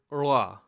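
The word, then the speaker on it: ळ: The sound is produced by taking your tongue and just kind of giving a weak flap. It's kind of like curling your tongue backwards and just trying to say an L sound, but it's going to kind of flap out very quickly.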